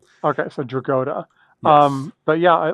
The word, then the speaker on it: Dragotta: I believe he gets a long O, Dragotta, is how I've heard it pronounced. Dragotta. Yeah. Okay, so Dragotta.